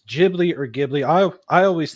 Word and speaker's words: Ghibli: I, you know, that's one thing I'm not sure if it's Gibli or Gibli. I I always think of the H more as silent and it's Gibli, but that's me.